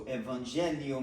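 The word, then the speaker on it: evangelho: And we know from previous lessons that the H is pronounced like a Y.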